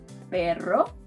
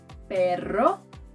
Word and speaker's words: perro: The second sound is called a trill. It's basically a double R, and you'll find it in words like perro, perro, dog.